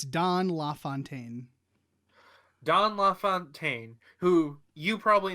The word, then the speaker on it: LaFontaine: It's Don LaFontaine.